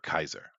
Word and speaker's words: Caesar: Now, keep in mind we say Caesar because you know Jewish Hollywood, but uh at the time it would have it would have been pronounced uh uh Kazer or Kaiser.